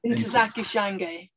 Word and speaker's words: Ntozake Shange: How do you pronounce that? Ntozake Shange.